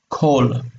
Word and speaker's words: kol: Okay, so this O that is long here drops down here because it's unaccented and becomes kol. But it sounds exactly the same. It's just the short form of the vowel.